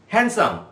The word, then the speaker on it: handsome: একই রকম ভাবে আমরা হ্যান্ডকারচিপ, হ্যান্ডসাম, HANDSOME, এই ডি এর উচ্চারণ কিন্তু এখানে পুরোপুরি সাইলেন্ট।